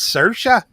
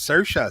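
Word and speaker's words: Saoirse: She's like, "It's Cersa. Everybody pronounces it wrong, but it's Cersa." Cersa Ronin.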